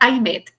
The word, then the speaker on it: Aymette: Es difícil para los americanos pronunciar I met.